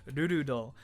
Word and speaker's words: Rurudo: Rurudo, fucking the way you pronounce that, Rurudo.